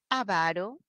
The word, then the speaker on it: avaro: avaro o es avaro mi pronunciación debe ser para identificar a la palabra avaro así como grave y si es grave